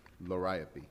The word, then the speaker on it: Liriope: How do you pronounce number 2? Liriope? Liriope.